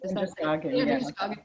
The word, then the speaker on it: Androscoggin: How's it pronounced? The Androscoggin? Androscoggin, yeah.